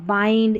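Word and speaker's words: bind: पढ़ेंगे फिर देखिए बिहाइंड इसको बिंड नहीं यहां पर बाइंड इसको भी फिड नहीं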